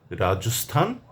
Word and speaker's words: রাজস্থান: একটি হচ্ছে ভারতের অন্যতম প্রদেশ রাজস্থান আরেকটি হচ্ছে ভারতেরই আরেক নাম সেটি হচ্ছে হিন্দুস্থান। এ দুটি জায়গার নামে কেবল স্থান হবে।